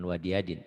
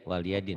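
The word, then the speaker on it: وَلِيَ دِينِ: Walia, bukan wadiadin. Waliadin, Wali.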